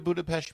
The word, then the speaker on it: Budapest: Have you been to Budapest before? And are you pronouncing with the appropriate sh in the Pest?